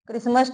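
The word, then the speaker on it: Christmas: eight क्रिसमस कर दीजिए क्रिसमस T silent रहेगा इसमें बेटा यह जो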